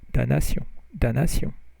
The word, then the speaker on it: damnation: So this also in English is damnation, but in French you don't pronounce the M. So it's damnation.